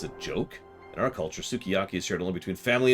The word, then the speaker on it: sukiyaki: Sakiyaki... God, how do you pronounce that? Sukiyaki.